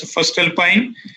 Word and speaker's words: Voestalpine: Is pronounced as Voestalpine.